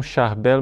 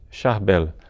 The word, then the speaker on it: Charbel: Mas é mais conhecido mesmo com o nome de Charbel, com a pronúncia francesa, que ficou um pouco vulgarizada no mundo inteiro.